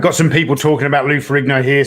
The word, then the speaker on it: Ferrigno: michael shafer saying that you do pronounce the g so it is lou ferrigno yep and black chandelier